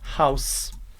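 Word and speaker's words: Haus: é a palavra house house e House significa casa note aqui no alemão diferente do português o h ele não é mudo ele realmente vai ter noção bem forte House novamente House House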